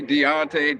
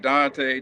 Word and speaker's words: Deonte: I mean, people call me Deante. Dante, Deante, however, whatever's easier for you to pronounce.